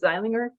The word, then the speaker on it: Zeilinger: Is it correctly pronounced as Zeilinger?